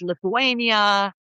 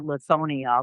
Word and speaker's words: Lithuania: And in the early 20th century, a group of uh Jewish immigrant men from Poland, Lithuania, um I mean she got the name wrong. She called it Lethonia, but I did not say anything.